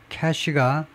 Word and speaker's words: cache: Now, 이제는요, interviews and a cache of internal strategy documents, cache가 발음은 이거하고 똑같습니다.